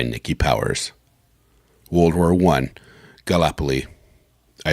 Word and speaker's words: Gallipoli: Gallipoli okay Gallipoli interesting I thought it was kalapa Lee Gallipoli got a little early but that makes this lip Polly even though the way they pronounce it sounds like it should have two peas in the middle but whatever okay where